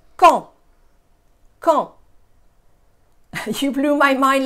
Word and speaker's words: Caen: So Caen is the first one. En is the nasal sound underlined. The A is not pronounced. The C is pronounced like a K. So really it's Caen.